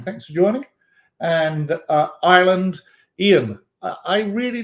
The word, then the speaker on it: Ian: But Ian, sometimes pronounced Ewan. I think I've heard Welsh pronounce it Ewan that way as well. But Ian, same thing.